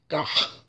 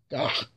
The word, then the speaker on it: gagh: That is pretty much bloodworms, a soup, and it's called gah, gah. It's spelled GAGH.